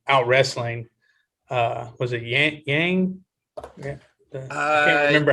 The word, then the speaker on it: Yan: wrestling uh was it yang yeah i can't remember how do you say her name i didn't even try to pronounce it's yan it's xiaonan yan i didn't even really